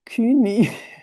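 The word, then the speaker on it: Kuehni: Rolf Georg Kun. Bueno, él nació en Suiza, por eso lo pronuncio de manera alemana.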